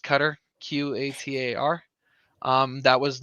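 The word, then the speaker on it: Qatar: experience together but come 2026 uh yeah it's pronounced cutter q-a-t-a-r um that was not a misspelling or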